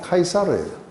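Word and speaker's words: Caesar: 근데 이 줄리어스 시저라고 했는 시저의 영어 이름으로 시저 했는 거를 로마식으로 발음하면 카이사르예요.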